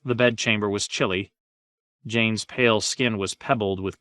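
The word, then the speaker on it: Jeyne: to hold her still Jane Jane it rhymes with pain he tightened his grip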